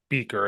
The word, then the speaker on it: Buecker: how to say yeah that U is silent the U is silent but that e is strong old German name I don't know love